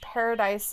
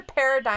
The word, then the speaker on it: paradigm: Aqua's like, I thought it was always pronounced Paradise Shift. It's a paradigm shift.